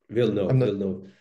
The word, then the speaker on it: Villeneuve: But no, I think that will, how do you pronounce the Canadian's director's name? The French guy, the Quebecian Villeneuve? Guy? Villeneuve.